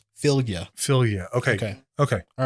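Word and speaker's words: Fylgja: prevent one damage creature blank enchants is it Fjord that is uh I mean like that's close to how you pronounce it it's not fjord but it is it is it is pronounceable philia philia okay okay all right you were close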